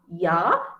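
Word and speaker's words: ja: say now suppose uh j a j a in german means yes okay yeah so you don't say yo ta okay you just say you take the pronunciation the initial pronunciation which is your and ah yah which is yes okay so we'll um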